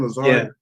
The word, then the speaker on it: Lazard: disappointed you know Le Lazard is how you pronounce his name Lazard he um he's disappointed me from day one